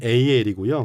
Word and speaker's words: AL: 아니면 AL이라고 읽어야 할까요? 많은 분들이 그것 때문에 헷갈려 하시더라고요. 그래서 원래는 AL이고요.